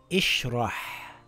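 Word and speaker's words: ٱشْرَحْ: Is there a lam after Hamzatul Wasl? No. So it's not a fatha. Does the third letter have a dhamma? No. So it's not a dhamma. It can only be a kasra. It reads ishrah.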